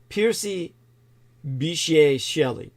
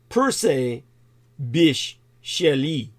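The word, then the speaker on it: Percy Bysshe Shelley: the following lines in the English romantic poet piery Bish shell actually it's pronounced per Bish sheli and his poem titled the mosque of Anarchy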